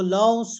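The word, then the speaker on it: Lao Tzu: टाइज्म के जो फाउंडर थे वो लाओसु है। स्पेलिंग में तो उसको एल ओ टी जेड यू कहते हैं। लेकिन जब प्रोनाउंस करते हैं तो लौस कहते हैं।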